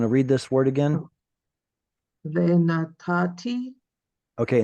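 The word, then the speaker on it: וְנָתַתִּי: Venatati. Okay, instead of putting the stress on the first tav, put it on the last one. Venatati.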